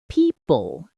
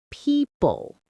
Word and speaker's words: people: I also notice I say people instead of people. Good observation. That's another classic one. The word people has a soft p at the start and a long e sound. Stretch it gently.